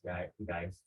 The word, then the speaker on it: Geist: Ms. Geist is the pronunciation, and Ms.